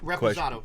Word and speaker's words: Reposado: Reposado.